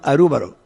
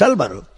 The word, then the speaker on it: Álvaro: Usted puede llamar a mí Álvaro, pero en Japón me llaman Arúbaro. Es mi nombre. En el Canadá los jóvenes me decían Albero. La pronunciación varía un poco, pero el nombre esencial mío es Álvaro.